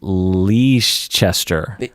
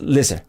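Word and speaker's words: Leicester: i'm going to try to uh get this leash chester it's pronounced lizard yeah i was gonna say but then the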